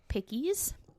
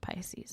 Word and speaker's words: Pisces: His date of birth was March 10th of 1948, and he is a pickies. I know it's pronounced Pisces.